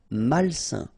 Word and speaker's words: malsain: A-I-N together, it's a nasal and it's un. Malsain.